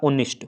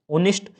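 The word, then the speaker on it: honest: Article में क्या होता है, इस वर्ड को पढ़ना होता है, तो मैंने पढ़ा ऑनेस्ट, क्योंकि इसमें एच क्या है, साइलेंट है, ऑनेस्ट।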